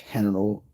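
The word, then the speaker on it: Heneral: it's called General Luna it's actually spelled with a h henal henal Luna it it's um you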